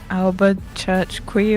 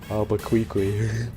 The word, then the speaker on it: Albuquerque: How did you pronounce it again, Lucy? I think it was like Alba Church Quay or something. Albuquerque.